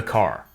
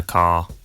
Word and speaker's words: car: Notice that the final R sound is not pronounced in British English. Father ends in a simple schwa vowel, like father. And in car, the vowel sound is lengthened in place of the R sound. Car.